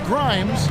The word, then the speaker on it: Grimes: Here's Grimes out left to the wing. Corner shot. A nice shot by Neesmith. And now it's a 10-point Grizzly lead. Grimes rhymes with dimes on time right there.